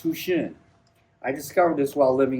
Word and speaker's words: Houchin: By the way, Hchin is a French name pronounced Tushin.